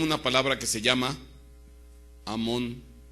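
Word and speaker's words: אמון: Y se y se pronuncia en el hebreo Amón.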